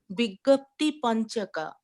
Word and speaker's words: Vigyapti Panchaka: Mataji, means, can you please pronounce one more time, like Vanchak, Vigyapti Panchaka? Like Vigyan, like Vigyap, Vigyap, Vigyapti. 3 pieces there.